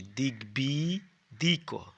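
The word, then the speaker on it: দিগ্বিদিক: লোক এসেছে দিকবিদিক দয় হি গয় বফালায় হি দিগবি দিক এভাবে উচ্চারণ করবে দিগ বিদিক দেখো গ এর উচ্চারণ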